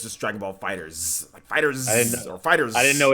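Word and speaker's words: Dragon Ball FighterZ: you my bad guys on the pronunciation it's Dragonball fighters just Dragonball fighters it's with the ass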